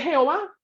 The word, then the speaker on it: Jehová: Ah, pues tomemos las consonantes que tenemos y agreguémosle las vocales de Adonai. ¿Cómo suena? Fonéticamente, Jehová.